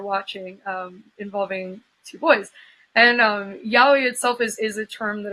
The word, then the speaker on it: yaoi: So but you were yeah, using that how is it yaoi? Is that how you yeah, pronounce it?